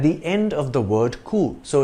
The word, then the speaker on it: coups: However, when using the short form of the phrase, that is just the word coup, we enunciate the S in the plural in English.